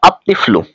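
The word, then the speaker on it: الطفل: রয়েছে এখন হয়েছে আত্তিফ্লু আমরা জানি উপরোক্ত 13 টি হরফের মধ্যে থেকে কোন একটি হরফের শুরুতে যদি আলিফ লাম আসে তাহলে লাম হরফটি উচ্চারিত হয় না বরং লামের পরবর্তী হরফটি তাস যুক্ত রূপে উচ্চারিত হয় দেখুন দেখুন এখানে কিন্তু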